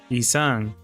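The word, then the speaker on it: 이상: So ideal in Korean is pronounced Yisang, which is similar to Yisang.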